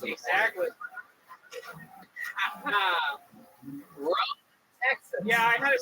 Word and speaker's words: Rhome: Rome, Texas. Yeah, I had to switch to order it, and it's RHOME, like our they spell it just to make it special.